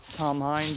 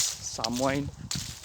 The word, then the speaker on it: Samhain: I always called it Samhain because H, but it's Samhain.